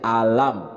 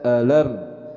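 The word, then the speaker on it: أَلَمْ: Jadi dibacanya alam bukan dibaca eeler karena sering ada yang baca alam tara itu enggak jelas harusnya dibacanya alam taro bismillahirrahmanirrahim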